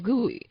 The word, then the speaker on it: GUI: edubuntu windows is a graphical user interface gui pronounced as gui between a computer and its user it has